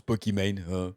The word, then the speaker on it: Pokimane: dépend où vous habitez ou prononcer à nos amis us prononce peau qui mène au qu'imane al zappelli man